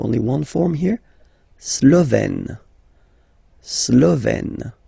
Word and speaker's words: slovène: Slovène. Remember, E accent grave, you open it, Slovène.